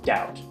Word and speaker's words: doubt: do that with the the silent B in the word doubt uh how about give